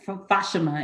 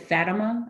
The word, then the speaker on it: Fatima: Mary, and the town, I think they pronounce it Fatima in Portugal. It became a pilgrimage site for a lot of Catholics. And so usually in the US, they pronounce it Fatima, Our Lady of Fatima.